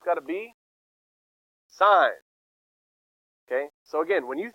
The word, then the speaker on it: sine: Since it's sine, I want you to write sine. And again, you don't say sin, but whatever. Okay, it's sine. That's how you say it.